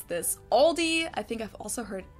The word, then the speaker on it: Aldi: before but I think most people say Aldi or they also sometimes add an s that isn't there in the end and say Alis in Germany we just say Aldi it has its origins